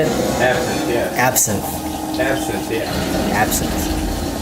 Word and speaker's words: absinthe: Absinthe, yeah.